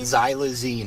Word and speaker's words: xylazine: the withdrawal from the Z how do you pronounce it again zy xine xylazine okay all right and that's what's yeah it's